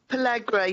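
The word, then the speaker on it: pellagra: And Pellegra, is that how you pronounce it? Pellegra, yeah.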